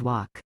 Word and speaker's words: walk: Помните, что буква L. в последнем слове немая. We always walk.